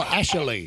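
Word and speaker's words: Ashaley: Oh, Ashley. Ashley. And her parents, I did ask because I was curious as to how they formulated this fusion. And it was because her dad wanted Ashley and her mum wanted Ali.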